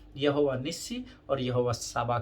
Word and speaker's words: Tsaba: English में लिखते हैं जेहोवा साबा, बट उसका स्पेलिंग है TSABA। टी जो है वो साइलेंट है, मैंने आपको पहले दिन बताया था, अगर आपको ध्यान में होगा तो।